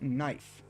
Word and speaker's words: knife: It's spelled It's spelled k knife. But but we're but the case at the beginning but the case at the beginning but it's not cut knife it's just knife like I remember like